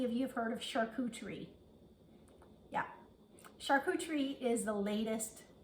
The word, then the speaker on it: charcuterie: It's pronounced charcuterie, and it's almost like char, C-H-A-R, cou, C-U, maybe Teree, T-R-E-E, charcuterie.